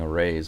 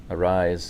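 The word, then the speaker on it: Arráez: I hear the commentators saying arai. I've been calling aray, but arise I I suppose is the correct pronunciation.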